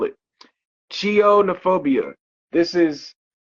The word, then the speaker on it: chionophobia: I'mma say it one more time and I'll spell it chionophobia this is C i o n o phobia